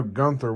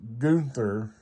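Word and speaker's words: Günther: And so I know Gunther wouldn't be correct, because a regular U, it would be a short U, and Gunther would be the short U pronounced. And with the umlauts, let me double check to make sure it has the umlauts. Yeah, it has the umlauts. So that would be pronounced Gunther, the long U, Gunther.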